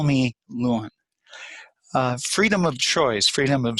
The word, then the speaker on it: Lewin: development was Kurt Lewin the correct German pronunciation is Lewin, but after he came to this country, Lewin one day said, "Tell them to refer to me as Lewin because they're confusing my